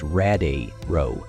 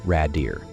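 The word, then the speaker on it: Radiru: essel gets emotional and corrects him saying it's pronounced rad row not Rader JY begins crafting the exler of life he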